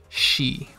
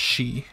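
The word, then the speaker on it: し: first kana exception so it doesn't follow the e pattern it still ends with e but it's pronounced she instead of c g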